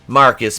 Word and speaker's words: Marquis: is callously murdered by marquise pronounced marcus because he's [ __